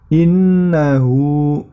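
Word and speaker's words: إنه: Kemudian innahu, ya, di situ terdapat nun tasydid, maka itu termasuk hukum bacaan gunnah, ditahan dan diperpanjang cara membacanya. Innahu, nah hu-nya itu dibaca panjang 2 harokat. Innahu.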